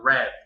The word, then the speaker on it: read: verbo read es que en pasado se escribe Exactamente igual pero se pronuncia red como el color Así que ahora ya